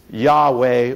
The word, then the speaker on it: Yahweh: they said it is yah yeh or yve and we know that the first syllable is definitely correct because throughout the Bible you see the word yah hallelu yah praise yah